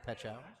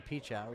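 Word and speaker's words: Pechauer: And George had informed me on the proper pronunciation of J. Petchower. I was going the other direction, going with the Peach Hour.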